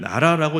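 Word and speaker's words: 奈良: 나라라고 하는 곳에 갔습니다 이름이 나라더라구요 나라 우리나라 할 때 발음이 똑같습니다 참 그냥 발음이 일치됐나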